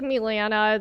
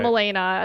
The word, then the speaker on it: Milena: It was like Milena. It's just the Serbian version, but Milena.